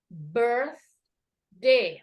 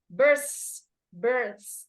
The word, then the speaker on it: birthday: of our people here instead of birth day it say birth birth It's not as okay it's birth th Oke so when you pronounce the th your your Tong is